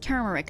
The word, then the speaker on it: turmeric: oh turmeric turmeric it's pronounced turmeric I keep hearing people say turmeric and I don't know why why did they say turmeric there's an R there triple Axel level one